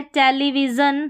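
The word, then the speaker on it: television: यहाँ पर है टेलीविज़न, सभी में जन है और कहीं पर शन भी होगा, वो भी आगे स्पेलिंग्स आएगी।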